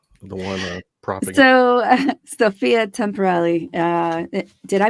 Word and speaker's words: Temperilli: you always uh the one proing so Sophia temporal uh did I pronounce that correctly yeah you're good okay is